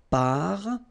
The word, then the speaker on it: parfum: So remember, even if you've got this UM like that, phonetically it's exactly the same thing as if you would have UN. So it's nasal and it's un. So it really goes in your nose. You don't pronounce the M at all.